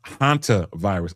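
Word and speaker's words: hantavirus: It's pronounced hanta virus.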